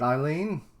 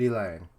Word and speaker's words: Elaine: never said it right is it eileen or is it elaine it's elaine isn't it it's elaine uh i